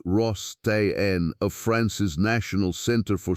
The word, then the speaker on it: Rostain: And in January of the year 2024, a team of archaeologists led by Stafen Rostain, pronounced Ross Tenne, of France's National Center